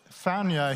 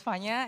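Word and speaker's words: Vanya: could say and so fania here where it's v-a-n-y-a but the v is kind of pronounced like an f uh is going to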